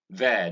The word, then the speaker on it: there: There. This is there and not dear. Many Nigerians say dear.